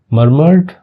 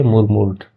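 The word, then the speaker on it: murmured: मरमर्ड, ठीक है, मरमर होता है, ठीक है, मुरमुर नहीं पढ़ते इसको, नहीं वैसे बनता तो ये है मुरमुर्ड, नहीं मरमर्ड पढ़ेंगे, ठीक है।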